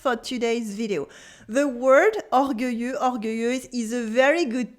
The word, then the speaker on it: orgueilleux: Here what you can notice is that the X at the end of orgueilleux is silent.